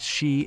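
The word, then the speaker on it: 四: pronounced she and coup.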